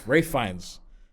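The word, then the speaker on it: Ralph Fiennes: Is that how you say his name? Uh, Ray Fines. Ra Rafe Fines and Liam Niss.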